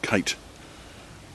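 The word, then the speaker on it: quoits: and this here is the koite or kite pitch the game of kits locally pronounced kite where a circular metal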